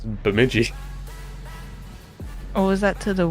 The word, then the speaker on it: Bemidji: It's just B-E-M-Midgy. It's Bemidji.